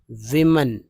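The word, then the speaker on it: women: कुछ लोग अब देखिए वमन यहां पर सोचिए कि डब्लू ओ इ एन तो विमेन विमेन मेमन ईन को तो एन बोलेंगे ही तो मेन हो गया लेकिन डब्लू को वी पढ़ा जाता है डब्लू ओ को डब्लू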